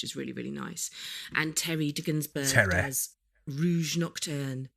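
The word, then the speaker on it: Terry de Gunzburg: really really nice and Terry denburg has Rouge nocturn ter you got to say it like that ter ter ter gunsburg um there's a it's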